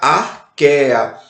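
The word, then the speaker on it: Archaea: CH tem som de Q e A com E eu só pronuncio o E, né? Então fica arqueia, que é representado pelas arqueobactérias.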